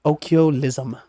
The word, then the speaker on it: occhiolism: From Italian occhiolino, little eye, the original name that Galileo gave to the microscope in 1609, pronounced occhiolism.